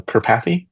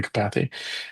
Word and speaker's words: Karpathy: And there's a a famous guy uh um uh in the AI space Andrew uh Andra Andra uh Karpathy. Andre Karpathy is probably the right pronunciation. Andre Kapathy and uh he was